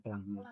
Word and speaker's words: Planck: Planck, bacanya Planck.